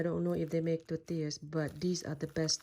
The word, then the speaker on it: tortillas: น้ำมันเจียวที่แม่บ้านเฮ็ดไว้เด้อพี่น้อง And then now we're gonna grill some tortillas. I have some corn and some flour tortilla. อันนี้ tortilla ข้าวโพดสาลีเด้อพี่น้อง ภาษาอังกฤษคนอเมริกาเขารู้จักว่าเขาสิว่า tortillas แต่ว่าวิธีออกเสียงแท้ๆค่ะแม่น tortillas เด้อพี่น้อง like that.